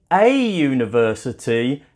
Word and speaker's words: university: U that is a vowel but we say a university not an University because the you makes a